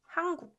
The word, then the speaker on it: 한국: But if you kind of listen closely, you'll notice that this one sounds like 한국. And it's much easier to pronounce it that way. 한국. So this 은 sound, when combined with k sound, So 은 softens to 응 when it meets k sound.